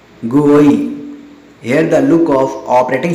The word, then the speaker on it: GUI: This is popular known as GUI, commonly pronounced GUI.